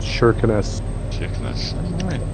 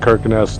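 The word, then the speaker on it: Kirkenes: for the line weirdly that k is pronounced like an sh it's called shirkness i've i've been there so i thought we were calling that kirkness the whole way up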